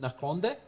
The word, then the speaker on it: Nakonde: You said it right. I'm proud of you. Most people don't get it right because it's a local language. How then others say that? Others would say anything, Konde, what?